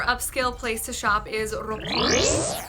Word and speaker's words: Roppongi: Another sort of more upscale place to shop is Roppongi. I don't think you roll your R's. And Roppongi is a really cool spot for just visually.